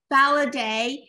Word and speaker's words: Faladé: you pronounce that before it's like holiday with an F validate um with us today